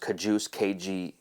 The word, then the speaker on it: KJUS: I think it's pronounced Kajus, KJUS, has this black sheep polo, which I'm loving, just launched.